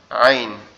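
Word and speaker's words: عين: হচ্ছে কি আইন আইন এই আইনটা কোথা থেকে উচ্চারণ হবে আমাদের এই কন্ঠনালীর মাঝ বরাবর অর্থাৎ এই গলার যে উঁচু উচু জায়গাটা আছে এখান থেকে উচ্চারিত হবে কিভাবে গলা চেপে আইন আইন আইন আইন আইন এরকম ভাবে ঠিক আছে গলা একটু চাপ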